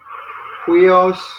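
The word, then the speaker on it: υἱός: Yeah, so it'd be like a H sound. Hui. Oh, yeah. Iota, Omicron, Sigma. Yeah, so for this one, huios. That's this one. Huios. Huios. You got to get that H Got sound in front of it.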